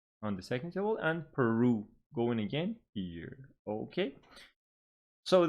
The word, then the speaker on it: Peru: you that the stress falls on the second syllable making it per Peru and here between the